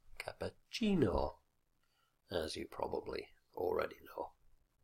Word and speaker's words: cappuccino: on any syllable, and with Spanish and Italian it's the second last syllable which always carries the stress. So it's spaghetti, cerveza, cappuccino, as you probably already know.